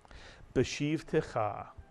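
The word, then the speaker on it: בְּשִׁבְתְּךָ: So you add the shiv to the preceding bet with a pronounced shva, and the first syllable is beshiv, and the second syllable is ticha, mitsuyan. Put the word together, beshiv ticha, beshiv ticha.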